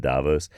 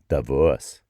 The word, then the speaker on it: Davos: See, notice how I almost said Davos. That's how we say it in English, but that's not how you say it in Switzerland. That's not. It's something like Davos.